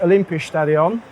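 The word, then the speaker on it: Olympiastadion: here in Berlin at the well rapidly filling Olympia stadion is that pronounced correctly excellent um so my name is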